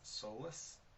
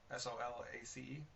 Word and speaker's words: Solace: I if I'm saying the film right Sola soless what Solus s o l a c e Solace oh yeah that's probably how you say